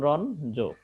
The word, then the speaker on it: রঞ্জন: এর কিন্তু উচ্চারণের সময় হবে কি? এটা উচ্চারণের সময় হবে তোমার ন হবে আর জটা থাকবে, অর্থাৎ ইওটা হয়ে যাবে ন। যেমন রন জো, রন জো, অর্থাৎ ইওটা জ ন হয়ে গেল, আর জ তো ঠিকই আছে, জর কোনো পরিবর্তন হবে না।